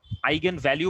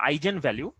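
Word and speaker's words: eigenvalue: ওকে, এটাকে আমরা বলছি আইজেন ফাংশন, যদি এটা অরিজিনাল উচ্চারণ হচ্ছে আইগেন, sorry আইগেন function, আইগেন ভ্যালু, আইগেন ভ্যালু বা আইজেন ভ্যালু। যদিও এটার অরিজিনাল উচ্চারণ হচ্ছে আইগেন ভ্যালু, বাট আমাদের বইয়ের মধ্যে এটাকে লেখা হয় আইজেন ভ্যালু হিসাবে।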